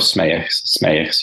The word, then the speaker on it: Smeyers: How do you say your name? I've heard a lot worse. It's Smeyers usually.